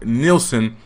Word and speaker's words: Nielsen: Like, nigga, you're not in Nielsen.